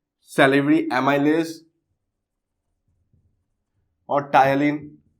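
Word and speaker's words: ptyalin: call salivary amylase or tyalin. P is silent here.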